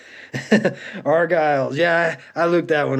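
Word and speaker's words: Argyles: the Hollywood argiles impressed I said that right argiles yeah I looked that one up cuz it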